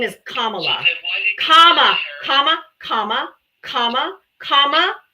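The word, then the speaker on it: Kamala: get me the source and her name is commala comma comma comma comma comma comma commala say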